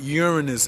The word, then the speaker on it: Uranus: creativity because it's ruled by the planet Ur Uranus not your anus not my anus or your anus but Uranus is the correct pronunciation it's unpredictable so so um it is